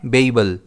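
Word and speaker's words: babel: इस वर्ड को हम प्रोनाउंस करते हैं बेईबल। इसमें स्ट्रेस पहले वाले बी पर रहता है।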